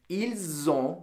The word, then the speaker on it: ils ont: This conjugation is on, O-N-T, and it is pronounced altogether with the pronoun ils ont with a Z sound or elles ont.